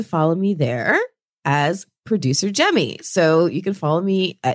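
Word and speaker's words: Jaime: So if you're on any of those apps, please follow me as Producer Jemmy, remember that is spelled J-A-I-M-E.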